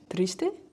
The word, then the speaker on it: Triste: We're gonna play Triste. Yeah. Do I say? How do you say it? You say it better than me. Triste?